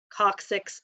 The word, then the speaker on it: coccyx: Ilium, ischium, coccyx, and sacrum. That's how you pronounce those.